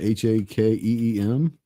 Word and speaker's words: Hakim: Like you spelled like Hakeem Olajuwon, Hakeem.